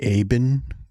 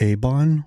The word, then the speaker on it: Aen: Besides the appraisal, the Aen crew, not Aon. What? I've been pronouncing Aon wrong this entire time.